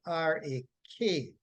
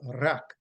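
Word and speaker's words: רך: And the root word from which tender is derived is transliterated to R-A-K, and it is pronounced rak, rak.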